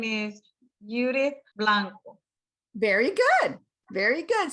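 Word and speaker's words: Yudith: to understand you and i would encourage you to spell it as well y-u-d-i-t-h judith because they're going to try to think of judas as an english speaker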